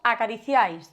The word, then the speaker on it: acariciáis: Por último vemos acariciáis. De nuevo vemos una vocal cerrada más abierta más cerrada, formando un triptongo, acariciáis, y al igual que effectuates lleva el acento en la vocal abierta.